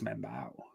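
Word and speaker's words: Membou: I mean that's that feels like it's membu that's how it's pronounced big M&M right I think that's how it's pronounced I put yeah membu I put it in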